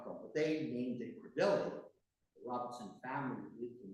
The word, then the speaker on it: Crebilly: So to pronounce it correctly, living here, we say We say Crebilly. Crebilly.